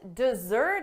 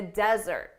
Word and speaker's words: desert: Here we need to think about syllable stress. Don't desert us. When you desert someone, it means you leave them alone in a difficult situation without any help. For the verb, the syllable stress is on the second syllable, desert.